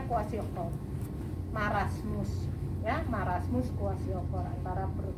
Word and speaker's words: kwashiorkor: Marasmus, kwashiorkor, tulisannya KW kwashiorkor. Susah banget tulisannya. Ya, bacanya kwashiorkor.